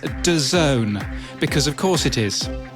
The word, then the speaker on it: DAZN: noticed yesterday that i didn't know how to pronounce dazn or n or d a z n apparently it's d zone because of course it